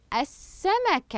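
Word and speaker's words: السمكة: الشمسيه تصبح تصبح تصبح السمكه اذا اللام الشمسيه هنا لم اقم بنطقها وبعدها اشتمل حرف السين على حركه الشده الشده الشده امامي ماذا شوكه احسنتم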